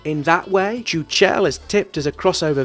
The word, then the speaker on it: Chuchel: The title refers to the game's central character, a Czech word for a ball of hair and dust that's pronounced Chuchel, and the dev team were kind enough via a tweet to confirm this is how it should be pronounced.